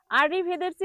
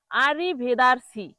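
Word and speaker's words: arrivederci: উচ্চারণ আররি ভেদেরচি। আর ভেদেরি অর্থ বিদায়। আররি ভেদেরসি অর্থ কি? বিদায়। তাহলে এটাকে ভুল করে মানুষ কি বলে জানেন? দেখুন আরি ভেদারসি আরিভেদারসি বলে।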